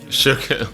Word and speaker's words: Suga: the word sugar, no, it's sugar without an R is sugar. With an R, it's sugar.